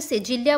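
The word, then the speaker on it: cedilha: अब नेक्स्ट है सिडला यानी इसे ब्राजीलियन पोर्चुगीज़ में सिजिलिया बोलते हैं।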